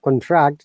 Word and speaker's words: contract: once again in monica when we're stressing the second but contract is becoming bar it means shortening decreasing okay would you like to